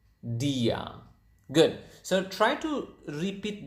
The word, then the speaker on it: dia: just simply say the same word which is Dia again DIA Dia okay and then how do you say